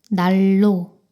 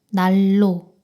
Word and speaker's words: 난로: 이때 니은의 발음이 리을로 변합니다. 날로, 날로.